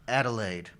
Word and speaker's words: Adelaide: for all the laughs sam where in australia adelaide have you heard of this before no sir do you know if you're pronouncing it correctly i'm pretty sure how's it